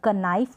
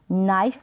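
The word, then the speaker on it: knife: यहाँ पर कनाइफ नहीं पढ़ेंगे, नाइफ पढ़ेंगे।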